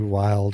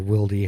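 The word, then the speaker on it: Wylde: one 1/8 twist 223 wild or wildy however you want to pronounce it 4150 chromoly vanadium nitride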